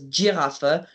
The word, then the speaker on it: Giraffe: sometimes around the country you'll hear in certain parts of it the word pronounced as giraffa not girafa but the point is